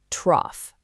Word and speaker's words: trough: Trough. It's just one syllable, and it rhymes perfectly with the word off.